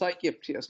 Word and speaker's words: Aegyptius: So if you really don't know how to say this word, Aegyptius. There's no argument. It's Aegyptius.